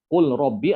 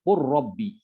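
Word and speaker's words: قُل رَّبِّ: Dibacanya apa? Qul robbi atau qur robbi? Qur rabbi. Ya, qur robbi diidghamkan.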